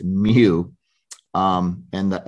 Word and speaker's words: mu: how you pronounce it mu like Mewtwo from Pokemon it's not U it's mu um and the s